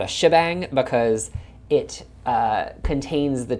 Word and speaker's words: shebang: bang so we have hashbang which over the years I guess got shortened to just shabang it's if you Google